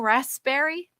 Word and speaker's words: raspberry: This is the funniest word to me, raspberry, because there's a P in there. Why do we ever say the P? Like, aren't we supposed to, should we be saying raspberry? Shouldn't we say that?